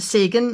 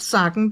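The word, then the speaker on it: Sägen: by Maria Trolle, Sagen, and it is pronounced Sagen, not Sagen, because of these two little dots here.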